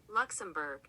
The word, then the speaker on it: Luxembourg: Ask ChatGPT how pretentious people say Luxembourg. Hold on. I'm going to have Google play it. I can hear your fingernails tip-tapping away. All right, ready? Luxembourg. All right. That was anticlimactic. Justification! But it has an O-U-R-G. Okay, think about the French language and how many letters they just throw in there willy-nilly.